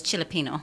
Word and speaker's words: Chili Pino: chili Pino so I I said it that way so that you guys can know how to spell it chai-li but it's chilly Pino yeah cuz the Chilean